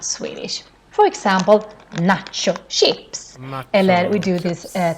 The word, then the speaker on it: nacho: For example, nacho chips. Eller we do this taco techniques. So here we have nachos, but we pronounce it, of course, the Swedish way, which is quite long vowels.